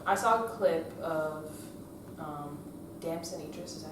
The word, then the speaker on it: Damson Idris: So I saw a clip of Damson Idris. Is that how you say it? Yeah, Damson Idris.